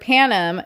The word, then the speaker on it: panem: The Latin word panem does mean bread, but the accent is on the first syllable. Everyone in the movie accents the second syllable almost as if they're saying Pan Am, which would be as